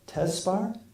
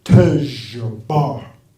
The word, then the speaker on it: Tejbar: And I said, Tesbar? And he said, no, Tejbar.